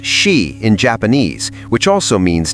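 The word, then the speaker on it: 四: The tunnel is haunted by the symbolism of the number four, pronounced she in Japanese, which also means death.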